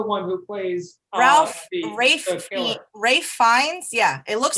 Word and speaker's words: Ralph Fiennes: Rafe Fiennes. Yeah, it looks like Rafe Ralph Fiennes. Fiennes, but you pronounce it Rafe Fiennes.